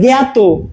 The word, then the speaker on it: জ্ঞাত: সেভাবে জ্ঞাত, জ্ঞাত, এখানে তো নয়ই আসে না, হ্যাঁ, গ আসছে, গয়ের মতো আসছে, গয়ের মতো উচ্চারণটা আসছে, জ্ঞাত।